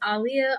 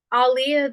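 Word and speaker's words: Aaliyah: saying it like that Aliyah that's how you say her name because in an interview she said it's pronounced like um Muhammad Ali so you know how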